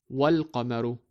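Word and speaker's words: والقمر: add wa before it, we need to read it as wal-qamaru because of the hamzatul wasl on top of alif. So we jump over the alif of al when pronouncing it.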